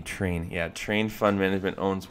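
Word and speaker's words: Trian: Train.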